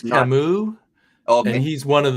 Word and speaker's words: Camus: Pronounced Camus.